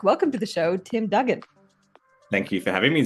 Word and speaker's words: Duggan: check with you before we started recording Tim Dugen yes you got it exactly correct God okay